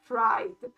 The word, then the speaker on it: Fried: is a duck named Fried. But then I reminded myself, wait, this is Germany. In Germany, it will be pronounced Fried, like from Friedrich. So pretty much Fred.